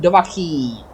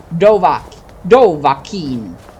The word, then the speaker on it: Dovahkiin: They blessed and named him Dovahkiin. Or Dovahkiin. No, Dovahkiin. Dovahkiin, that would be the pronunciation.